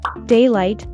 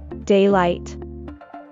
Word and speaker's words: daylight: on theed daylight robbery daylight is the that comes from the Sun during the day we stress the word on the first syllable daylight daylight meanwhile a robbery is